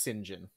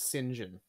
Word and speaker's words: St John: John yeah it's pronounced singen what Yep this is a br this is a wild British thing but his name is singen yep what yep yep